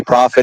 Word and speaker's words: Prophet: don't worry about it it's profit it's easy like a profet in the Bible easy easy it's going